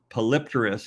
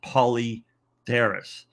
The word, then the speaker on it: Polypterus: Yes, I know it's not pronounced Polypterus, it's pronounced Polypterus. In this case, Polypterus is a acceptable name where you will say the P.